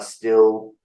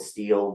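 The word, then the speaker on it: Stihl: like uh ego Husqvarna still I think you guys call it steel we we pronounce it still um and did I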